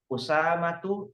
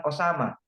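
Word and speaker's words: أسامة: negara beda logat ya kalau orang barat bilang Oh sama kalau kita karena bisa kita mengucapkan bahasa Arab maka kita ucapkan Usama hanya dimatikan H karena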